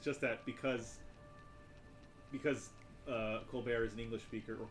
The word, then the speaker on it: Colbert: It's just that because Colbert is an English speaker, or Colbert is an English speaker, and not French, even though he doesn't pronounce the T in his name.